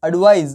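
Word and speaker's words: advise: रहा है और इसके पीछे का जो साउंड है वो ज आ रहा है क्या आ रहा है ज एग्जांपल देखें एडवाइस और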